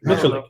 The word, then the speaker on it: Miculek: Miculek. Okay, Miculek.